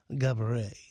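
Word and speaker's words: Geberit: Gaborit is how they pronounce it.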